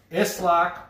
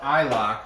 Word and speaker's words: Isloch: what I was saying this lock or I lock however you want to say it it can be pronounced either way pending on your where you're from there number eight okay